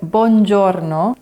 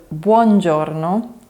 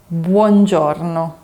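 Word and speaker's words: buongiorno: In Italian vowels are really important. Italians really enunciate them.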